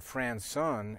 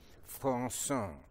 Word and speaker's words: Françon: If anybody in the house said Françon, no, Françon.